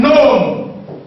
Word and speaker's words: gnome: The G is silent, so you have nat. As in gnome.